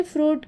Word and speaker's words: fruit: होता है देखिए बच्चों फ्रूट में आई साकिन होता है आई की आवाज पढ़ी नहीं जाती लेकिन लिखना जरूरी होता